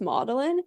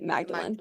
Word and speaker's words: Magdalene: Magdalene college but then the tour guide told us that it was pronounced modelin I was like oh that's so interesting like I love that so that's where that came from but I totally I understand that most people are going to say Magdalene which I'm also okay with I don't care so